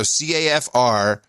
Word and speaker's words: CAFR: So now we're pronouncing acronyms, and it sounds like, so CAFR sounds like the same as KAFFIR.